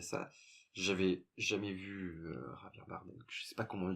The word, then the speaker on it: Javier Bardem: Je le prononce à l'espagnol parce que j'ai des origines. Javier Bardem.